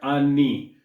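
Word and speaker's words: anni: And you want to stick the landing on the double end there, an oni, because that means years. If you say ani with one end in Italian, that means anuses.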